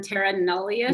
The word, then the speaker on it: terra nullius: And not only that, there's also that term terra nullius.